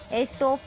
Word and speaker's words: Aesop: Now you understood the pronunciation of that word? Okay students, again repeat this word. Aesop.